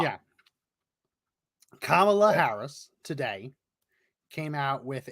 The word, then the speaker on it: Kamala: do I say so just say comma like a comma L yeah Kamala Harris today came out